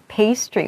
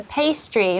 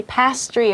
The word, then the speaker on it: pastry: So it's a pastry. Make sure you don't say pastry or something, right?